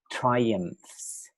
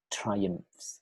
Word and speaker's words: triumphs: And then after listening to Google Translate, then say triumphs, triumphs. You need to remember the PH, we pronounce it F, right?